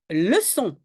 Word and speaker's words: leçon: je prononce franquais pardon leçon tu écris le Sonon oui il faut une petite CDI parce que si je ne mets pas la CDI il y a un o qui suit donc c'est le con